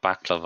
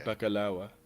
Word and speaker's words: baklava: bacalawa. How? Sorry, percent. How's it pronounced? It's not a V. It's like a W. Bacalawa.